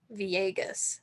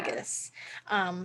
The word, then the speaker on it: Villegas: Sarah, I always used to pronounce her name wrong, and this is why in my notes I was like, oh, I gotta make sure that we get that out there because it's like Villegas, Sarah yeah, Villegas.